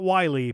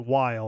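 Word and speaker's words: Wily: make an argument for Dr Weil not Wiley but while or whale or however you want to vile however you want to pronounce his name the the villain of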